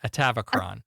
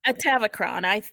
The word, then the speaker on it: Atavachron: How do you pronounce that fucking word? Atavachron. Atavachron. That's what they were saying.